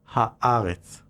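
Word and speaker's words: הארץ: In other words, Eretz effectively changes its pronunciation whenever the Hebrew definitive article is added, turning it into Haaretz.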